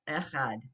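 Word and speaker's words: אחד: Ehad, Mm-hmm. Ehad, Ehad, Ehad. He really wants to stress that. Echad, one.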